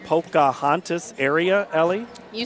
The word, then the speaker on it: Pocahontas: Let me see if I get this pronounced right. Pocahontas area, Ellie?